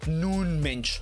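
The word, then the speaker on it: Nuno Mendes: world right now is i've literally learned how to pronounce his name thanks to you guys nun mention i had to go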